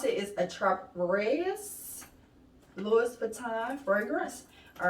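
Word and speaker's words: Attrape-Rêves: Okay, the name, how you pronounce it is Attrape-Reves Louis Vuitton fragrance.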